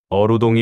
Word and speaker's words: 어우동: 어루동이 원래 발음인데 이게 무슨 뜻인지 아시나요?